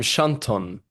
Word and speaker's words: Chanton: Um, Schanton. Schanton, okay.